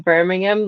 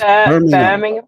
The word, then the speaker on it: Birmingham: so entertaining being in Birmingham like that just listening to people. No, you're saying it American again. It's Birmingham.